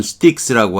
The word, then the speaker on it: Styx: 자, 그 다음에 이건 스틱스라고 하는데 이거 어려운 단어예요.